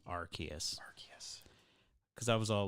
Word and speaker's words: Arceus: is pokemon legends of arceus that's right it's pronounced arceus my whole life i called it arceus and i still don't think i'm gonna call it arceus but i found out it's actually pronounced arceus because i was all like yo about to